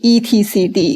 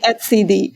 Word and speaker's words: etcd: you pronounce it cuz you cannot say etcd because it diminish the meaning of it it's not the product that Deb right it has to be at CD so yeah you can